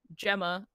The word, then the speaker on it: Gemma: The theory, Cal, Niku, that's me, and Gemma, which is actually pronounced Gemma. Is it? That's my thing. Yeah, it's actually Gemma is Gemma. The actual normal. Yeah, it is what I would call a soft G, I suppose.